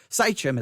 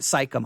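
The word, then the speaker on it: Shechem: way to say it saichem is the right way to say i always want to put a k sound there but i think it is saichem it's not psychom i for some reason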